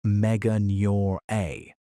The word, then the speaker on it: Meganeura: Meet Meganeura, pronounced megan-your-a, one of the largest flying insects